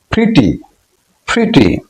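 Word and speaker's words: pretty: for example English English প্রিটি এখানে ই এর উচ্চারণ হস ই বা হস ই কারের মত নেক্সট নাম্বার লেটারটি উচ্চারিত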